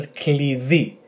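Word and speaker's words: κλειδί: It should be that it's a the pronunciation, not the, and E with the emphasis on the second syllable. So altogether, klidi, klidi, klidi, which is a key.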